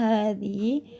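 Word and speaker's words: هذه: Fathah tegak pada huruf pertama dari hadza, hadhi, dan dzalika dibaca panjang.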